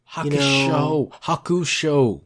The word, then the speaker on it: Hakusho: There's no U there. Why do you think it's Shu? I don't know, because there's Yu Yu... Hakusho.